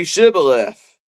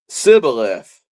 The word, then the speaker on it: Shibboleth: If he said no, then they would say to him, Then say Shibboleth. And he would say Sibboleth, for he could not pronounce it right.